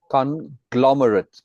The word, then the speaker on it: conglomerate: sorry, say it again. Conglomerate. Second syllable Okay. emphasis.